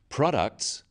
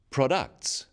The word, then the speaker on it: products: in words and sentences in words one syllable is stressed the wrong stress makes it hard to understand so conclusion not conclusion products not products even more important in